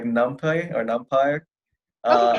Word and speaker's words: NumPy: i've heard it no i the way it's pronounced is numpy yeah okay so i think we did cover